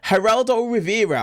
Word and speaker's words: Geraldo Rivera: Also as well, Geraldo Rivera, I believe that's how you say his name,